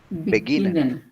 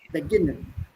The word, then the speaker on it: beginnen: The stress is on this one here. G. On the G part. Yeah, this one here. Not on base, but it's on G. G. Beginnen. Not beginnen. Beginnen.